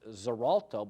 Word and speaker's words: Xarelto: brand name is Tough it's zalto but it's spelled with an X like xylophone x a r l t o zalto was the second